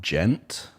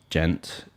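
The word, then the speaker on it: djent: has got used a lot a genre called gent i've never heard that yeah i think it's spelled d-j-e-n-t if i'm right i never heard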